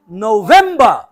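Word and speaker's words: November: নভেম্বর নভেম্বর নভেম্বর নভেম্বর ন আসতে হবে বা আসতে হবে মাঝখানে ভেম এটা জোরে হবে নভেম্বর নভেম্বর নভেম্বর নভেম্বর নভেম্বর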